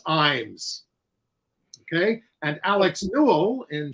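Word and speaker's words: Ijames: viewer Andrew of California the correct pronunciation of the playwright of fat ham is James Iams okay and Alex Newell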